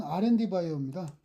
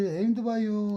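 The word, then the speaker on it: 에임드바이오: 그리고 그다음에 어 그다음 종목은 R&D 바이오입니다. 아 AMD 바이오입니다. AMD 바이오. R&D가 아니라 AM죠. 발음이 좀 헷갈리네요. 네. 저 에임드 바이오 같은 경우에는 상장한지는 뭐 사실은 몇 개월 안 됩니다.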